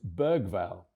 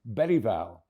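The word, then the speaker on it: Bergvall: made it crystal clear with the difference of the letter G in Swedish, the proper way to say his second name is Bereval, as in the late Sven Yuran Ericson, Urine written begins with a G.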